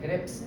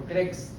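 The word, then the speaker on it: Krebs: como ciclo de crebs crebs pronuncia bien creps no crex crex son las papitas acá hablamos de ciclo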